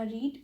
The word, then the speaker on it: read: जिस तरह रीड भी एक इरेगुलर वर्ब है, अगरचे रीड के स्पेलिंग्स तीनों जगह पर एक ही हैं मगर प्रोनाउंसिएशन चेंज हो जाता है। जिस तरह फर्स्ट फॉर्म में हम उसको रीड पढ़ते हैं, सेकंड फॉर्म में रेड पढ़ते हैं, और थर्ड फॉर्म में भी रेड पढ़ते हैं।